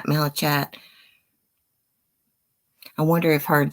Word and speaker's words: malachite: I didn't know if I was pronouncing it right because the way it's spelled, it's Malachite. So I was saying chat, but it's cat.